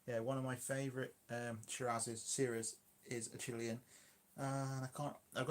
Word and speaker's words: Syrah: It's a Syrah in South America. Syria? No, Syrah. Yeah, Shiraz in Europe, Syrah in South America. Yeah, one of my favourite Syrahs is a Chilean.